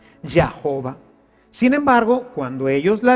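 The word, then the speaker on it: Jehová: del tetra grama y de la inserción de las de las vocales la y dejaron ahí no se puso porque para ellos la jota es una consonante por eso es que solamente se pusieron estas vocales y dio como resultado la palabra ya jova sin embargo cuando ellos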